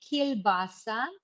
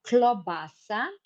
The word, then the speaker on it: klobasa: So you say kilbasa, you say kilbasa. We say in our language kranski sausage, but klobasa, oh, just a second, I will need to fill. Uh, so, klobasa, Klobasa. This is a Slovenian word for sausage.